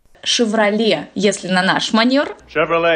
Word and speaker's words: Chevrolet: бренд сначала вы это не chevrolet это вся валяй сиквеле chevrolet если на наш манер